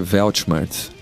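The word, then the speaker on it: Weltschmerz: que é o nome essa palavra se pronuncia svelte Marques inveja último uma em em alemão mas foi adotado pela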